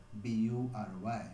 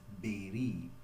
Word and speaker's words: bury: It may be surprising for many of you, but the pronunciation of this word is not bury, but it is berry.